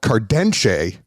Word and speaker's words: Cardenxe: but Luigi um you own a brand called cardenshe and it is did I say it right